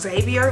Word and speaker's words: Xavier: in front of them unless it's Xavier, because you could obviously hear the X being pronounced in Xavier.